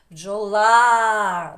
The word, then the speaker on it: бджола: нас який голосніший очі а бджола хто відкрився широко і довго проспівав свою пісню О чи А бджо-оп швидко промовили ротикам проспівали а бджола а-а голосніше ще раз бджола бджола ударяємо сильніше проспіваємо А є молодці ставимо наголос рисочкою ударяємо так от на другий склад А є і так що